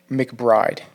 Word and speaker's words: McBride: I'm gonna go with McBride.